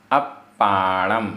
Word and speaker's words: अप्पाणम: जो अप्पाणम आधा पा पूरा पा, अप्पाणम, अप्पाणम।